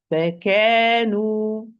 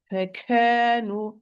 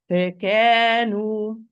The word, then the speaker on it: فكانوا: If I want to pronounce this word properly, it's going to be فكانوا فكا. Okay, wrongly فكانوا no. Do not exaggerate because this is not second. It has a short vowel. فكانوا here correctly كورت كورت wrongly كورت